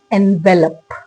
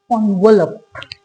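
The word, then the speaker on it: envelope: ज्यादातर लोग इसको क्या पढ़ते हैं? एनवेलप। That's incorrect. इसका करेक्ट वर्जन क्या होता है? ऑनवेलप।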